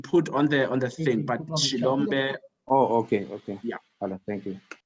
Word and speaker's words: Xilombe: Shilombe, I'll spell it for you.